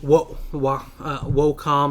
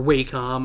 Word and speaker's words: Wacom: The idea for any Wacom or Wacom product. Or Wacom. I've heard it pronounced Wacom.